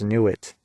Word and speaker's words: Nut: god of the sky which is nut pronounce new it nut or new it and she looks